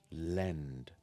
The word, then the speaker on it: lend: Lend begins with an L, and ends with END, end. So put that together and it sounds like this. Lend.